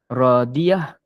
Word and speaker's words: Raziah: maksud Nama saya z raziah jadi saya kata dia begini dalam nama ni ejaan dalam masa Melayu tak diambil kira walaupun namanya raziah tapi sebenarnya adalah radiah Oke kalau namanyail sebenarnya